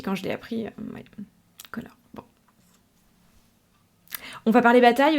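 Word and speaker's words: Conchobar: Par contre, ce héros, il a vécu sous le règne d'un roi qui s'appelle Conor. Ouais, je sais. Je suis tombée de ma chaise aussi quand je l'ai appris. Ouais, Conor.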